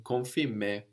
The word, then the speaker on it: confirmer: Like in confirmer or compare, compliqué. We don't say compliqué, no? The M is kind of swallowed into the vowel before. Compliqué, confirmer. And this is when the